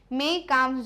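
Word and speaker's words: Mein Kampf: तो ये लिखा ना, MAYN को क्या पढ़ोगे आप? मेन, है ना। और काम्फ तो काम्फ जैसे ही है ना, काम्फ पढ़ते ना, काम्फ, है ना। तो इसको मेन मत पढ़ना, इसको मेई बोलते ना, मेई काम्फ जो है वो क्या है?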